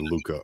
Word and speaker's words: Lucca: It's 2 C's. I thought it was Lucha. They've been pronouncing it Lucha when they mention it. Lucha would be like Lucha, like Lucha Libre in Spanish. So I believe Luca. I believe Luca in Italian would be Luca.